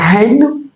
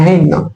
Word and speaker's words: haine: Il y a des mots, vous allez forcément entendre le H, par exemple avec la haine, la haine, la haine.